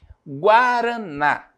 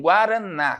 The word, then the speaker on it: guaraná: essas essa classificação guaraná quando eu eu pronuncio a palavra guaraná né Qual é a sílaba mais forte o n né o na É porque tem acento porque tem o acento Professor acento agudo Pode ser né geralmente